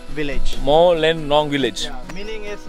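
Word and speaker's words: Mawlynnong: Bro, how do you pronounce this village name? Mao Len Nong village. Mao Len Nong village.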